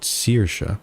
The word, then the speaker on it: Saoirse: And I'm looking at, apparently what the person says, both are correct depending on the region of Ireland. Saoirse, Saoirse. Saoirse, Saoirse. The most common way is to pronounce it Saoirse.